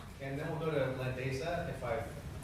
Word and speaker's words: Landesa: And then we'll go to Landesa, if I've pronounced it correctly. Very close. Landesa.